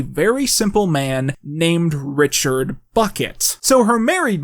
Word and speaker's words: Bucket: events of the series she's apparently decided that it's actually pronounced bouquet it's very kind of